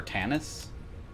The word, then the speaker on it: Tanis: you and you are Tanis that's how I say my name just like out of StarCraft which is where I